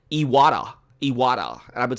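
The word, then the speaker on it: Iwata: keep want to say i keep on saying i owada but i found out yesterday that I've been pronouncing his name wrong its yada yada and I've been saying I owada or I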